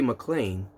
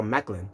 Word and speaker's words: Maclin: of steve macklin now i thought it was gonna be mclean but instead is uh macklin so i i i